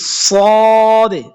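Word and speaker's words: ص: আর এই যে সদে, সদে, সদে, সিরাতাল্লাযীনা আন'আমতা আলাইহিম, এই যে সিরাতাল্লাযীনা এখানে সদ, তো এখানে আওয়াজটা একটু মোটা হবে।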